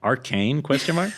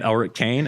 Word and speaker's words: Elric Kane: that under the comments, a lot of them write Arcane ? So I say my name Elric Kane, and I think they think I'm saying Arcane. When you say it fast, it comes.